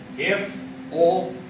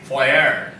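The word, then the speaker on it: foyer: let me write here f o y e r the word is point but remember this last letter r is not pronounced so by mistake also do not say for do not say that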